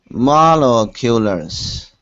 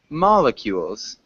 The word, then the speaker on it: molecules: moleculars, Molecules. Yeah, molecule, molecules. oh, Molecules. oh, molecules. You right? Mol. I. You're missing the I.